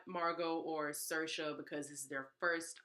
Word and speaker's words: Saoirse: pronounced, because this is spelled like it says Saroja. What is Saoirse? There's an A and an O after this S. That's not.